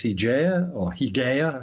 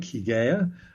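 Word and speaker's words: Hygiea: Hygeia is probably how it's pronounced. Depends on whether you lengthen your Y's or not in ancient Greek.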